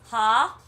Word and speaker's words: homicide: Pronounce it with me. Ha-m-i-side.